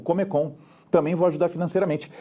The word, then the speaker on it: Comecon: Um plano de ajuda econômica, principalmente no leste europeu, que a gente vai chamar de Comecon. Né? Ou, né, na entonação russa, Comecon, porque a sílaba tônica no meio.